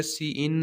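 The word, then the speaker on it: cin: तो इसको भी प्रोनाउंस ऐसे करेंगे, सी इन आउट की जगह पे हम यहाँ पे सी इन यूज़ कर लेते हैं कीवर्ड।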